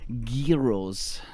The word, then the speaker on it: gyro: I was talking about gyros, the food, the wonderful, delicious Greek food. It's pronounced gyro, Jordan. We call these gyros. If you look through it, it's a gyroscope.